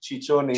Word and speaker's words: Ciccione: How do you pronounce that? Ciccione.